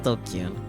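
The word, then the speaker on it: ドキュン: Pronounced Dokyun. Used to refer to people who are stupid, antisocial, or delinquents.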